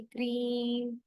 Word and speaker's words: क्रीम: क्रीम होता है ये, तो इसको बोलना भी ऐसे ही क्रीम, आवाज म की लास्ट में ज्यादा है, तो ये क्रीम क्रीम नहीं करना, क्रीम।